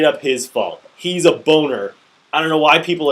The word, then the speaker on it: Boehner: fault it's straight up his fault he's a boner I don't know why people are calling him Boehner his name is always said that it's pronounced